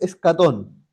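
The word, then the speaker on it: ἔσχατον: Eso que ustedes ven ahí en griego es escatón. Ya. Así se pronunciaría en nuestro en nuestro idioma, ¿ya?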